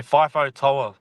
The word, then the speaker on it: FIFO Toa: It's Fifo Toa.